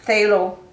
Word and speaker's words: phthalo: so you can see the pH is silent so it's Taylor is the correct pronunciation